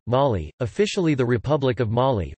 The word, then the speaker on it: Mali: Mali, listen, French pronunciation, Mali, officially the Republic of Mali, French, République du